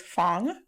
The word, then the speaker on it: Fong: and finally tells us her name is Fong Fong Fong which rhymes with thong shout out to her